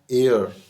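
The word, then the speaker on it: heir: good ही is blank एयर एंड शी is blank एयर एस एन एन एयर H silent है इसमें और उसमें भी एन ही आएगा एयर एस एच साइलेंट हो गया उसमें यू आर ब्लैंक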